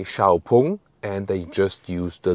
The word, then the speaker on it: 小鵬: that the lettering of x-pang on the outside and so on and the name like the pronunciation xpang is just used internationally inside China they say xiaopung and they just use